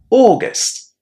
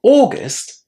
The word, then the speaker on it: August: The next word we're going to talk about is August. Now, August, similarly to daughter, is pronounced with a long o at the beginning. August.